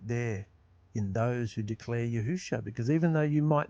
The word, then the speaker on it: Yahusha: hasn't changed we know there's no more accurate pronunciation of his name yahusha he is our Messiah our deliverer and he